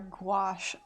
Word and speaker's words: gouache: Let's look at our gouache brush options. You know you have too many brushes when you have to have cheat sheets. Okay, what kind of gouache do we need for this adventure?